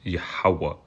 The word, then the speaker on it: Yahawah: um it's silent so if you just pronounce yah ha that's how you pronounce his name that ha at the end of that word that I don't have highlighted is actually silent so it doesn't matter um so when you pronouncing his name is yahawah yahawa all right yeah